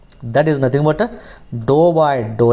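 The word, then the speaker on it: ∂: square u by dou x square, it is pronounced as dou square, okay, or short notation is uxx or fxx, or I can also write this one as p, q and r.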